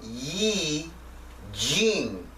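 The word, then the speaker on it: I Ching: No, it's pronounced I-Ching or Yi-Jing in Chinese, if you're interested in that.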